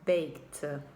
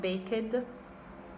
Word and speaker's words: baked: and the simple fast baked baked not baked baked okay after the k sound the tongue goes into the dirt baked you can feel the tongue going slightly up baked baked then we